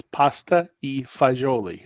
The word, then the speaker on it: pasta e fagioli: what's because this is pasta fagiol right that's how you pronounce it right that's the correct pronunciation three words it's it's three words in italian it's pasta e fagioli and fagioli just means